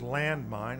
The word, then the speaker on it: Landmind: It appears to be a non-severed horse head with the name of the album, which is Landmind, and that's a.